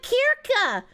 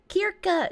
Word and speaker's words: Kirche: But you didn't spell it Kirche. Kirche is church, and Kirsche is cherry.